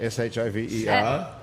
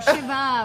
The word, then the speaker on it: Shiva: S-H-I-V-E-R? No, not Shiver. Shiva with an A.